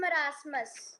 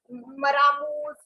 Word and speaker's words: marasmus: And marasmus. Marasmus. Somebody yesterday, some students were बोल रहे हैं पता नहीं maramus, muramus. I don't know what they were speaking.